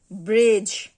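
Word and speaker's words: bridge: বাজেট, বাজেট, ব্রিজ, ব্রিজ, Jaaz, Jaaz, hedge, hedge, ব্যাজ, ব্যাজ, plays, plays.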